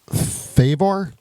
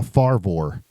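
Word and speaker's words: Fravor: his name is Commander how do you pronounce it Commander favor almost like favor it's uh farvor Commander David favor um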